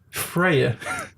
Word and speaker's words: Freyr: But one person who always seems to be Vanir is her brother, Freya. And it's spelled Freyr or something like that. Yeah, that's exactly it. And it's like pronounced more like Frey.